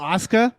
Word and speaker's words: Asuka: Oh, Asuka? Yeah. That's how they pronounce it, apparently.